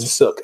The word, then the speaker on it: Sook: How you spell it? Sook.